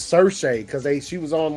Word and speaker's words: Saoirse: The way it's spelled, I always used to try to pronounce it as Source or some whatever the fuck it was. It's Saoirse because she was on like.